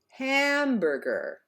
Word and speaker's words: hamburger: now in the word like hamburger the first syllable is stressed ham therefore we stretch out that vowel hamburger repeat hamburger good in